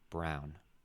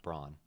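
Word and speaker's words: Braun: a guy named Christian Brown it's spelled b r Au U n but he says it's brown not Bron huh and he had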